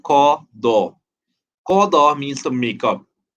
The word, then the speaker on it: qada: Now the first term qada, you might hear different people say pronounce this very differently. Like especially when it comes to performing your salah, people might say kaza, right? Or certain things like that. But the Arabic term is qada, right?